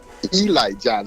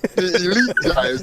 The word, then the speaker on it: Elite Giants: Birmingham black Barons the Memphis Red Sox Baltimore Eli Giants one of my favorite teams is the Eli GI now it's spelled Elite okay but it's pronounced Elite you